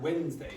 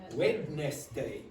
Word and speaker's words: Wednesday: problems with the word Wednesday yes when you you see first you go wedness day I had no problems